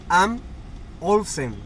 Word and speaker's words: Bang & Olufsen: Quería comentarles sobre eso porque les había dicho antes que era Bose y no, es Bang, Bang, B-A-N-G, Am Olufsen. Más o menos esa es la pronunciación.